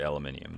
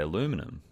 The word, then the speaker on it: aluminium: is aluminum oxide Crystal it's actually aluminium the rest of the world says aluminium I don't know why you would respell it to say aluminum when the rest of